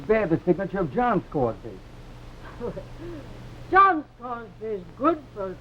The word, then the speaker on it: Scoresby: Lady, Henrietta Scoresby. One of the few English names that's pronounced as it is spelled.